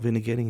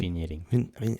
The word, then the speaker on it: vignetting: Can you pronounce it properly? Vignetting. Vignetting. So the G is not in there. So vignetting. There you go.